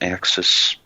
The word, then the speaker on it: AXZ: And AXZ, or I think it's also can be pronounced Axis, was July of this year, 2017.